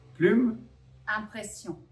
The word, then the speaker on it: Plume Impression: Plume impression.